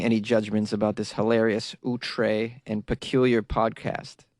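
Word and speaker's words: outré: She says, you got to listen 3 times before making any judgments about this hilarious, outre, and peculiar podcast. Did I say it correctly? Outre, O-U-T-R-E.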